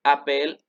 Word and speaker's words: appelle: Entonces, esta de aquí, junto con esta de acá, junto con esta y esta, se pronuncian muy parecidos. M'appelle, appelle, appelle, appelle, porque recuerden que las últimas no se pronuncian.